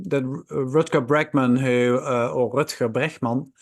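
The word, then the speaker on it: Rutger Bregman: day that um that RKA bman who or R bman pronounced in Dutch um who wrote humankind a couple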